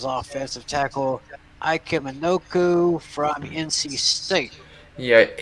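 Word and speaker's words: Ikem Ekwonu: Cincinnati, and the Giants, McShay says offensive tackle Ike Minoku from NC State. Yeah, Ike Ikwonu is how you pronounce it.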